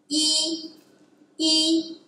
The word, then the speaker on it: 一: it's also a character we pronounce it as e you know it's the